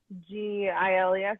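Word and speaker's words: Geils: G-I-L-E-S? No, G-E-I-L-S, but yeah. I think it is pronounced Giles.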